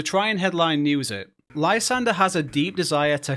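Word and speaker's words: Lysandre: built around this guy Lysander whose name I pronounced as LeAndre for longer than I want to admit the story is quite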